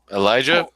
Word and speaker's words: Elijah: segment we're just about to talk about um Elijah I'm Gonna Let You am I pronouncing your name right first off yep Elijah is all good cool um we've already talked